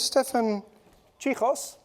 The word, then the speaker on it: Stephan Cichos: So next I would like to introduce Stefan Chos. Thank you from Bayer. Yeah, rightly pronounced. Thank you very much. Cool. Yeah. Good. Good afternoon everybody. Uh my name is um Stefan Sos.